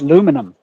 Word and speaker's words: aluminum: It's aluminum.